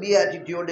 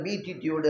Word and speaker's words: beatitude: ஆனால் அதை ப்ரொனவுன்ஸ் பண்ணுறது வந்து பி ஆட்டிடியூட் என்று சொல்வது, சிலர் பீட்டிடியூட் என்று சொல்வார்கள்.